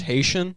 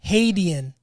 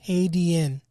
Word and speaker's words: Hadean: Isn't it pronounced Haitian? Hadean. H-A-D. It's for Hades. I thought it was Haitian. Hadean.